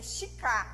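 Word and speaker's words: 鹿: E a pronúncia do veado em japonês é shika.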